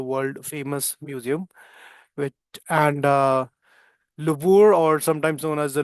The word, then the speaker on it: Louvre: तो वो Louvre वाली जो pronunciation है उसे याद रखना. It's a French pronunciation and the answer is France.